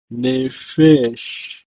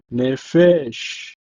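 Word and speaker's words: נֶפֶשׁ: It's pronounced as Nephesh, Nephesh.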